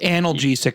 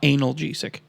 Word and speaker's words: analgesic: some alcohol in there pronounced analgesic not analgesic yeah mhm nice you